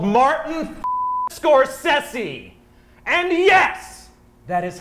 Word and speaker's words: Scorsese: a film with a little man called Martin Scorsese and yes that is how he likes his name to be pronounced Scorsese we had lunch last week he adores cobb